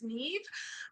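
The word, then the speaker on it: Niamh: my name which is Neeve um it's spell n a MH um and it rhymes with Steve I know it doesn't look like it does but I promise you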